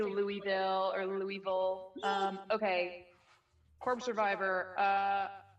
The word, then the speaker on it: Louisville: Mike, say it like you have a mouthful of marbles. I went to broadcasting school. They forced it into me. They're like, you got to say Louisville. Louisville.